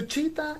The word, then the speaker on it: cheetah: have that is cheetah so cheetah is spelled as c h double e t a h so h is silent at the end position right and another word